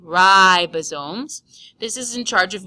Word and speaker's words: ribosomes: keep it going ribosome be careful to call this ribosomes like R bread and not ribosomes like your ribs so say ribosomes this is in charge